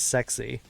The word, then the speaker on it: SCSI: an SCSI Port is I always pronounced it as scuzzy but there are some people who pronounce that acronym as sexy it just unnecessary like